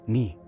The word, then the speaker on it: knee: First up is knee. You might not notice it, but that K is quietly resting while we bend our legs.